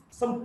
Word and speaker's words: sew: So is even this spelling SEW, it is pronounced as so.